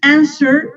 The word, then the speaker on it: answer: Ya te dije que esta letra no está ahí. Answer, así dime. Answer. Answer. O sea, la W no suena.